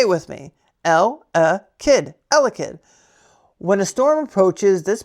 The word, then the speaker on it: Elekid: Elekid. Not L-Kid. Elekid. Elekid. Say it with me. Kid. Elekid.